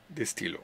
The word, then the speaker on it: stylos: Because listen, un stylo, un stylo, des stylos. Two. So you don't hear the N of the name with an S. The S is silent. The plural is silent.